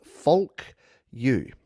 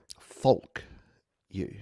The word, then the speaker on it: Folk You: Christ's side project called Folk You. Folk You. Gotta get the L in there. Because if I say it like an Australian, folk you, it doesn't sound great.